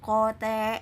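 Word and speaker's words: 校庭: Hi Ho se Hote kalau ditulisnya itu kan kotey tapi dalam pelafalan bahasa Jepang karena enya panjang iqnya tidak di terlalu ditonjolkan jadi penyebutan kata ini yaitu Cote Hai mam ya lapangan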